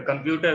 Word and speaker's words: computer: So in computer, the stress is on second syllable, sir.